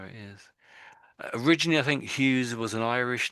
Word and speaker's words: Hughes: So Tom Hughes.